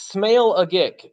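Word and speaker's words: Smailagić: Alan Smeligic is out. I just like saying his name. What is he smelling? Well, it's Smale-a-gick. So Smale-a-gick.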